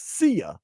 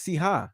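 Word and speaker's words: Cija: Initially, she says people think it's Sia, like Sia. Right, but it's Siha.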